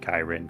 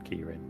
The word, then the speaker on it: Kirin: You pronounce it Kirin. Kirin. I'm thinking key like the Yeah, cuz like a monk has key spelled the same way.